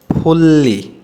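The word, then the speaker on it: 분리: করব দেখেন সুরেগি আবর্জনা ফুললি ফেসুল করে ফেলা বা আলাদা করে ফেলা সুরেগি আবর্জনা ফুললি এখানে নিউন বা সিমের পরে রিউল থাকার কারণে নিউনের উচ্চারণ ল হবে ফুললি ফ্যাসল পৃথক করে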